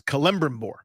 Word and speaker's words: Celebrimbor: The real Elven pronunciation is Celebrimbor.